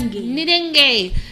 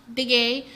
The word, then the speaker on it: Nidenge: Nidenge. It's not pronounced Dige. It is Nidenge.